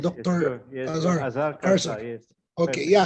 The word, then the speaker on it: Azhar Kharsa: Azhar Azhar Kharsa.